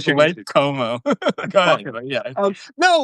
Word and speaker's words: Cuomo: because I think the Como campaign one I love like how you pronounce it, by the way. You say Como. You've said this for months. I refuse to Like change Lake it. Como.